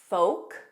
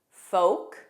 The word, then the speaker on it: folk: Other common words are folk, folk, yolk, the center of an egg, yolk, salmon, salmon, Lincoln, kin, kin, Lincoln.